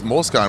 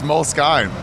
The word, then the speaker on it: Moleskine: notebooks, these Moleskine ones.